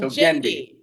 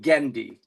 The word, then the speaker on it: Gendi: But it rhymes with the girl's name Wendy. Wendy. Like Gendi.